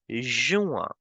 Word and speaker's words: juin: May as May only, no changes in the pronunciation, and we will pronounce June as juin. A sound will come. In is in the end, so we will make the sound of a.